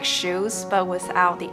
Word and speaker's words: Hsu: People will pronounce it like, so is it like shoes, but without the S, like shoe?